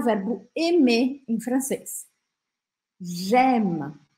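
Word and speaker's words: j'aime: verbo Eme em francês gema ó o Sorrisão aqui gema gema tá esse e no final a gente não vai pronunciar É como se eu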